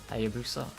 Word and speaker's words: Hayabusa: Hayabusa, that's how you say it.